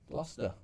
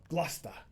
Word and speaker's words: Gloucester: Gloucester. Gloucester. Gloucester, governor. Were you going to say Gloucester or something? Gloucester.